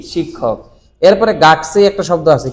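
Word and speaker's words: 学: এটা হচ্ছে গাকু। এবং তার সাথে এই যে উমারে মাসের কাঞ্জি, যার আরেকটা উচ্চারণ কি সেই, গাকসেই।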